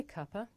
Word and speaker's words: cuppa: of tea good now this is such a natural and common way to pronounce cup of that in British English the word Kapur actually means a cup of tea and after all that